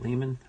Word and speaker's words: Lemon: Some people say it Lehman. I say it Lemon. Spelled the same way. So Robert Granville Lemon and Lehman, either way.